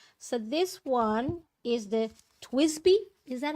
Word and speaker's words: TWSBI: So this one is the Twisby. Is that how you say it? The Twisby. TWSBI. Twisby.